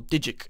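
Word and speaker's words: Van Dijk: it is good old Virgil Van Dyke or dig if you want to pronounce names like a weirdo basically because he's had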